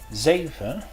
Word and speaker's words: zeven: The Z is just like the Z in English, as in the word zeven, which means 7. Some Dutch dialects will pronounce the Z kind of like an S.